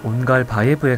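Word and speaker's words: Ongalbayev: 정확한 발음은 온갈바예브에 가깝지만 국내 한정 온갈베브로 발음하도록 하겠습니다.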